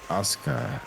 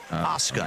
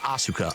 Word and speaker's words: Asuka: No, it's Shinsuke Nakamura, and it's Asuka. Asuka, not Asuka.